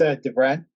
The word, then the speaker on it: DeVren: It's DeVren, like DeVren.